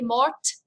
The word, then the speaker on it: morte: Did you hear me say elle est morte with a t? That's because when you add the e, you pronounce that t.